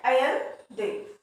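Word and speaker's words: Allende: So these were the some extract of the speech of Salvador अलेंदे. इसको pronounce किया जाता है अलेंदे.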